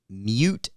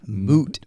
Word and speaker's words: moot: Mute point. That is not Mute. correct. Mute. point. Mute point. Okay. That is not correct. It is not mute point. It is moot.